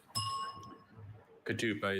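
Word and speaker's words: ketupa: Kadupa is spelled K E T U P A.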